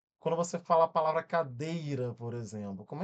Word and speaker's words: cadeira: Ó, a gente tem aqui cadeira que eu falei com vocês, né? Cadeira. Aí você faz, separa a sílaba care olha, essa daqui levou mais tempo.